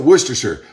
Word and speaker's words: Worcestershire: sauce i pronounced it worcestershire like new hampshire not shire worcestershire some people say